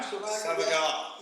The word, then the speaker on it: Savagar: Matthew Savagar, is that how you pronounce his surname? Yeah. Savagar.